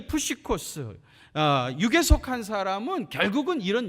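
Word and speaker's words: ψυχικός: 헬라어로는요, 푸시코스라고 그래요. 푸시코스. 뭐라고요? 푸시코스. 여러분 발음도 좋으시네요.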